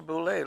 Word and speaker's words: Buschle: That's a Buschle, like a gathering, isn't it?